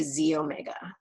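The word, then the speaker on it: xEO Mega: means so first off that little X is a Greek letter X so it's pronounced Z and so you say Z Omega and we'll start with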